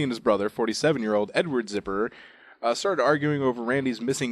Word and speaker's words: Zipperer: Is He's it spelled like zipper? It's Zipperer.